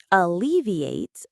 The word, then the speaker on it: alleviate: It sounds a little bit like the word elevate, which means to lift something up. Think of it like that. Alleviate, like elevate, but a little softer.